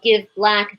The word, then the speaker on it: Give Blck: times in september uh it's spelled give black b-l-c-k the missing a is for the missing assets the assets that you